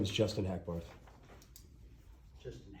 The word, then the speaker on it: Hackbarth: My name is Justin Hackbarth. Justin Hatfield? Hackbarth. How do you spell that?